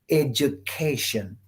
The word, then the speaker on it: education: In English, when a word is ending in tion, you stress the syllable before tion. For example, education.